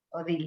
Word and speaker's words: Odile: contar de esa pequeña, a ver si lo pronuncio bien, Odil, Odili, Odil, así nada más, sin la Odil, E, Odil.